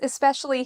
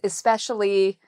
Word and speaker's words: especially: So the second syllable has the stress.